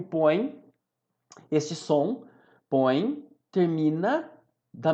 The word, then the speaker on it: põe: Reparem que o põe, este som, põe, termina da mesma maneira que o pegaram. O M e o põe, a pronúncia é pelo nariz, é um ditongo nasal, por conta disso vai seguir a mesma regra do pegaram.